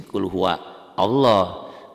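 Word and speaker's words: قُلْ هُوَ اللَّهُ: Qul, alifnya nggak dibaca, kan nggak ada tanda bacanya tuh, karena nyambung di wasol. Kalau Allah, kalau di wakof, ya benar. Kalau berhenti di sini, qul huwa Allah. Kalau nyambung, a-nya nggak bunyi.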